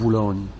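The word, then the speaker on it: Boulogne: wieczorem Siedzę w hotelu w bulon tak to Francuzi czy jakoś tak wymawiają w bulon podk Dlaczego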